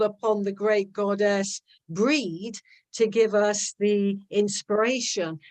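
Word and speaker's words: Brigid: the RR one is breed and she's often pronounced Bridget or Bridget Bridget but she should actually pronounce Gaelic breed like you know at the breeder a breed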